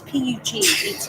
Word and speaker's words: Puget Sound: No, it's Puget. It's Puget. So you pronounce that Puget.